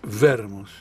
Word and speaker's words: Wermus: Jorge, tu nombre es Wermus. Sí. ¿Lo estoy pronunciando bien, correctamente? Yo pienso que es Wermus. Wermus. Que no es una W inglesa, sino una W alemana.